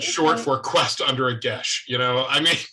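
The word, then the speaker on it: geis: Actually, technically, they speak Irish, but for the rest of the world, it's Gaelic, and they all agree that they would pronounce it gesh.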